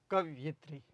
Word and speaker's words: कवयित्री: ये गलत है, यह भी गलत है, इनमें से कोई नहीं, ये कवयित्री शब्द होगा, ठीक है। कवयित्री, उच्चारण क्या होगा? कवयित्री, ये शब्द शब्द शुद्धि